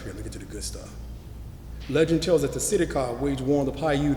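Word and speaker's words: Sitecah: red-haired giants called the Setika. S-I-T-E-C-A-H is how it's pronounced.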